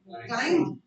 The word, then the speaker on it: climb: Next we have climb. B flat होगा. B flat.